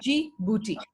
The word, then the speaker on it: Djibouti: we see this claim this bee is silent we don't say the D it's only G booty huh movie in Djibouti